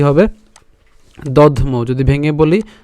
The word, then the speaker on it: দধ্মৌ: তাহলে পৌণ্ড্রং দধ্মৌ, দধ দ আর ধ একসাথে উচ্চারণ করলাম, আর ম এর সাথে ঔকারকে নিয়ে গেলাম, তাহলে কি হবে দধ্মৌ। যদি ভেঙে বলি দধ্মৌ।